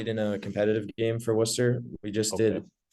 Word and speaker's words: Worcester: That's how that I get the Yeah, Worcester. pronunciation right.